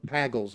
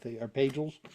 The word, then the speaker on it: Pagels: Gospels excellent book by uh Elaine uh uh pagles are pagels is how you pronounce it and you know it's an excellent